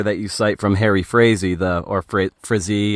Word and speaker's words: Frazee: And there's this great letter that you cite from Harry Frazee, Frazee. How do you pronounce his name? Frazee, yeah.